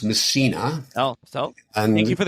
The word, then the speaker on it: Massena: Right, so it's pronounced Massena. Oh, so thank you for the correction. We think that it was named after one of Napoleon's generals. And so Massena was first settled by French people in the late 18th century.